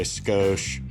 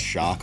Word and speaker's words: Schoch: is so a lot of people will mispronounce my name they'll say skosh scooch scotch really just anything they'll say anything but shock most the time the